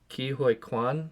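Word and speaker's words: Ke Huy Quan: Ki Hoi Kwan, I think is how you say it.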